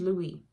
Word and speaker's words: Louis: "Before we go any further, my name is Louis, spelled like the city in Missouri, but spoken in the French way."